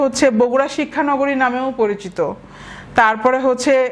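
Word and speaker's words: Bogra: এ অঞ্চলের নাম হয়েছিল বগড়া ইংলিশে এই যে বগড়া বি ও জি আর এ ইংরেজি উচ্চারণ বগড়া হলেও বাংলায় কালের বিবর্তনে নামটা পরিবর্তিত হয়ে বগুড়া শব্দের পরিচিতি পেয়েছে 2 এপ্রিল 2018 প্রধানমন্ত্রীর কার্যালয়ে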